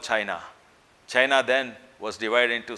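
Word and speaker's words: Qin: was no country called China China then was divided into small kingdoms fiefdoms and it was not United they were Waring States in China in a small feudal State called kin pronounced chin the feudal Lord or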